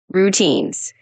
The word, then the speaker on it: routines: As a little tip, when you say routines, just emphasize the second syllable a bit like routines.